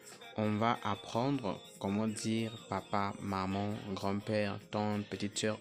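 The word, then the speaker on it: 爸爸: Alors, papa en chinois, on dit papa, papa, papa, papa.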